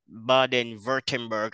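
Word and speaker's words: Baden-Württemberg: Germany a place called baden-writtenberg I do I I know that in Germany doublets are pronounced like V so I don't know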